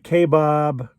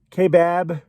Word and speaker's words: Kaibab: unknown area in the K Bob k-bab however you want to pronounce it kbab national forest